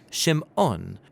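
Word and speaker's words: שמעון: and she names him Simon or in Hebrew Shimon because she says the Lord has shamad that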